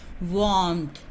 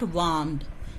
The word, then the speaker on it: warmth: So check what is the sound of this pronunciation of this word, warmth, not warmed.